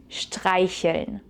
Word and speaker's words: streicheln: It's a little bit difficult to pronounce with the sh sound, for which you need to press air through this tiny gap between your teeth and you pull your lips to the side. Sh, sh, streicheln.